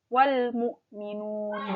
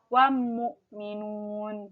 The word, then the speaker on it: wal-mu'minun: qamariyah yang 14 nafka suara dari Al Islam ini terdengar jelas yaitu suara l-nya wall l gitu ya Hai alif.lam kan suaranya itu L maka awalnya dibaca jelas wal-mu'minun bukan wow Mukminun Deco Oke kita sebut